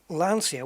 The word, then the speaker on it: Lancia: do it man that the sea in the eye is like a cher so it's lancia lancia see it doesn't